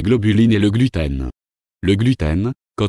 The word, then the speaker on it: gluten: latin et signifie coll en règle générale la première syllabe est accentuée c'est à dire le u et non le e de la deuxième syllabe selon les scientifiques les